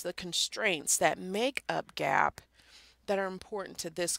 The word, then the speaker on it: GAAP: our accounting system so GAAP is what we call it yeah phonetically it's not correct should be probably something along the lines of Gabe but GAAP GAAP generally accepted accounting